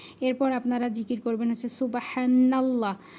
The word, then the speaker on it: সুবহানাল্লাহ: এরপর আপনারা জিকির করবেন হচ্ছে সুবহানাল্লাহ। অনেকে কিন্তু এটা সুবহান আল্লাহ পড়েন, সুবহান আল্লাহ এরকম পড়েন, তো এটা কিন্তু উচ্চারণ ভুল হয়। এখানে কিন্তু উচ্চারণ করতে হবে সুবহানাল্লাহ, নাল্লাহ, এটা কিন্তু সঠিক করবেন, ঠিক আছে।